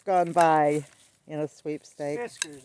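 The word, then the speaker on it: Fiskars: Fiskers, not Friskers. What is it called? Fiskers. Not You always Not You have a problem with pronouncing names not wrong. Friskers. Fiskers. It's Fiskers.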